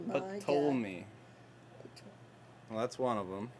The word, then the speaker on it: Ptolemy: Spell it. How do you say that? Oh, God. P-T-O-L-L. Ptolemy, my God. Ptolemy.